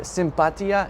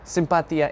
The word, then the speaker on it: sympatia: But the words are sympatia and sympatický. I hope I pronounced that right.